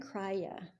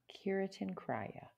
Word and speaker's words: Kirtan Kriya: Kirtan Kriya. Kirtan Kriya. Yeah, okay. I'm saying it right. Kritan.